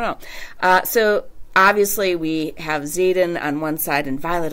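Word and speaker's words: Xaden: Now we have Zaden Ryerson, or however you want to say his name, it's X-A-D-E-N.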